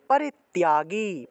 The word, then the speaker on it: পরিত্যাগী: শুভ শুভ পরিত্যাগী, পরিত্যাগী তার সাথে জফলা থাকায় তিয় উচ্চারণ।